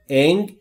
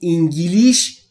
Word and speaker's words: English: انگلیسی دقت بکنید دوستان تلفظ درسته انگلش انگلش انگلش انگلش انگلیش انگلیش یا هر چیز دیگری نیست انگلش انگلش انگلش english